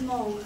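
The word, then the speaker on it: Hmong: cultures of M people um so what is Mo um first of all it's it's SP h m o but you pronounce it without the age so age of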